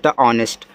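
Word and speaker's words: honest: सटे एस से आपका आधा सा टी से ऑनेस्ट ऑनेस्ट का अर्थ होता है ईमानदार ठीक है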